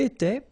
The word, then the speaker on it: étais: Remember, here we've got accent aigu, so it goes like et, all right? J'étais. Okay, tu étais, il était, elle était, nous étions, little liaison here to make it more beautiful, nous étions, okay, final S not pronounced, remember, vous étiez, same